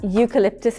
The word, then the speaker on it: eucalyptus: Did you notice that eucalyptus plant begins with an E, which is a vowel, of course, but the sound U is a consonant sound, so we use a.